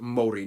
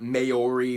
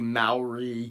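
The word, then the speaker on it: Māori: Yes, by the way, it's pronounced Maori, not Mayori, Maori.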